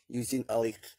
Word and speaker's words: Eugene Ehrlich: Eugene, tulisannya Eugene, bacanya Eugene Ehrlich.